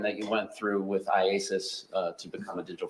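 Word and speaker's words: IACIS: call it Isis yes how do you say iasis iasis all right I just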